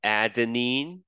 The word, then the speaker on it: adenine: what they stand for so A is for adenine that's how you pronounce it uh G is for guanine C